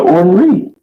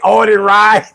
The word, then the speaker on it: Orton Reed: I'm thinking that shit say Orton Ride. Like, what's this shit say? Orton. How you pronounce it? Orton Reed. That's what.